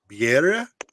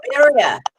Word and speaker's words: birria: where I get some of my friends to pronounce it for me. Biera tacos. That sound right? What Tacos? taco? Birria Oh, tacos? birria.